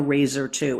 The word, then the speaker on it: Raizer II: Just what is the Razer 2? And just for clarity, that's spelled R A I Z or Z E R2.